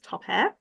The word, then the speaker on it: topair: everybody my name is topair and I would say it's pronounced like pop in air even though when you see it it doesn't sound like see it doesn't look how you would say it um so I always